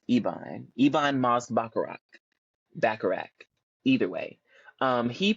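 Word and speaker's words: Ebon Moss-Bachrach: list is and I think his name is pronounced ibon ibon Moss bakarak bakarak either way um he plays cousin yes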